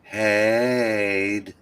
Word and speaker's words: Hyde: That's actually it's pronounced Hyde.